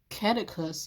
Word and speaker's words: caduceus: The word is catechus, I believe. I'll spell it. It's I have it in my head, but I can never pronounce it. Caduceus.